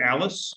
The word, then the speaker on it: Allis: This is Patrick Bracken with the Shauna Foundation, and I'm here with Clayton Allis. Am I pronouncing that last name correct? Yep, that's you Okay. got it. Alice in Wonderland.